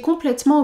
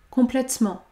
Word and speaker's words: complètement: Le E de complètement n'est pas prononcé puisqu'il y a une seule consonne devant. Complètement, complètement.